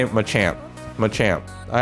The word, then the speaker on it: Machamp: i'm a champ i i have to get used to saying that because i've heard a lot of you guys say it's um you know that's the right way to say it so he does